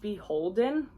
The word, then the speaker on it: BHLDN: brand which is definitely a bolo this is pronounced beholden and it's actually anthropology's like Formal Wear line